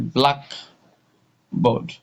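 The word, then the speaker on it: blackboard: So the first one is a black board. Black board. So the stress from the pronunciation the stress is on the black.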